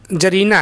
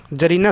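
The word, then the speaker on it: czarina: Identify the gender of word जरीना है। ठीक है? तो यहां पर देखिए सी आपका साइलेंट है। यहां पर आपका इसको हम बोलते क्या है? जरीना।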